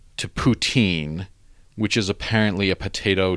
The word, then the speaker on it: poutine: So apparently it's pronounced poutine. I'm pretty sure it's Putin. Oh, like routine, but with a P.